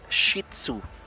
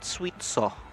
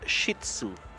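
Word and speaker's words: Shih Tzu: households when we and you say it as shitsu not swio not sh swio mam many people would many Filipinos will call it swieto but it's shitzu how do you spell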